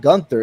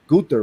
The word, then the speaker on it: Gunther: It's not Gunther, it's Gunther, right? Gunther, yeah. Last night. Gunther, right? I think that's not me either, but you know, it is what it is. It was Gunther.